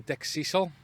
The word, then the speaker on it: Dickcissel: Well, it's Dickcissel.